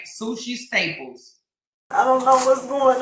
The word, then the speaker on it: Sushi Staples: And Her name is Sushi Staples. Like sushi, like you eat the food or whatever. It's spelled just like it's S-U-S-H-I.